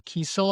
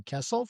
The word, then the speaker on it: Kiesel: pronounce some creators' names, because I know Carl Kiesel. I've been pronouncing Kessel for my entire life.